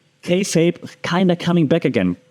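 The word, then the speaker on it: kayfabe: also call in wrestling there's this term called K fape kape right um you spell it k a y f a e k fape okay K fape means you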